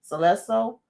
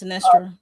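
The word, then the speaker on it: Sinestro: Now, I don't know how to pronounce this name either. Is it Celesto? The one that I believe was his mentor that's locked up in this dag on jail. Yes, Sinestra.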